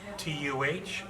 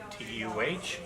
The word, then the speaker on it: Tadegwa: We usually have to spell it twice. Tuhdegwa. And they say, what? And I say, Tuhdegwa.